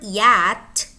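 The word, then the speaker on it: yacht: And in the word yat, CH is not pronounced. We say yat, yat.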